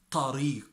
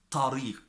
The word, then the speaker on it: tariq: You cannot say it tariq, it's tariq, tariq.